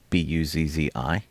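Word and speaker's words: Buzzi: Uh nobody could pronounce her name properly, Buzz Zi, because apparently nobody ate enough pizza.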